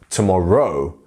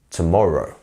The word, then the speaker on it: tomorrow: and our full stop this one is our stressed syllable tomorrow tomorrow not tomorrow tomorrow wouldn't be right it sounds like a funny name in a in a TV show tomorrow not tomorrow it's tomorrow you see so just